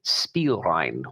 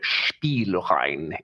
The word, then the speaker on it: Spielrein: namely Freud, Jung, and Spielrein, or Spielrein, if you want to say it like that.